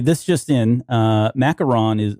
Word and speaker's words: macaron: Macaron looks like it's the English pronunciation. Macaroon is the French pronunciation.